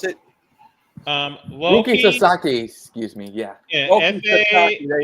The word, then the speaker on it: Sasaki: The rookie Sasuke Rookie Sasuke. about to begin. Type his name. Rookie Sasuke. Yeah. Type his name so I can pronounce it. Rookie Sasaki, excuse me.